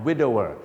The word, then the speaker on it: widower: นั่น เอง นะ ฮะ a widower ออก เสียง คล้าย ๆ กับ Window นั นะ ฮะ แต่ ไม่ มี ตัว N ก็ ไม่ ต้อง มี เสียง เนอะ นั่น เอง นะ